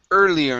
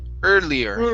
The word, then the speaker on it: earlier: uh let's go to earlier instead of earlier with the g sound in there this is early earlier try that earlier good good and